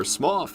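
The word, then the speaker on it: Smough: It's the boy Smo, or Smoff, as he's actually pronounced, but I've always called him Smo, so I'm going to keep calling him Smo.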